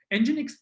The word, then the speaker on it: NGINX: And NGINX, pronounced like NGINX.